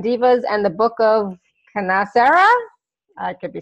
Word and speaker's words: KnaSera: KnaSera, see? Yeah, the K is silent. Silent, silent K, KnaSera.